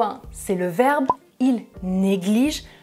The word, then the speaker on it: négligent: c'est le verbe ils négligent troisième personne du pluriel je ne prononce pas -ent et numéro 2 Tom est un étudiant négligent je prononce -ent parce que c'est un adjectif, ça va ?